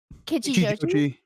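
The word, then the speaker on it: Kichijōji: Kichiyoshi.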